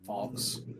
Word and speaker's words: Fuchs: Yeah, that's how you pronounce that name, Fox.